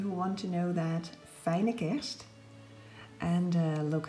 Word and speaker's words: Fijne Kerst: It says Merry Christmas in Dutch, and it is pronounced, for those of you who want to know that, Fijne Kerst.